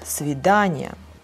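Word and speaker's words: до свидания: vidania like meeting okay and their stress goes not on the other this yeah thing but on the word like svedanya okay um like this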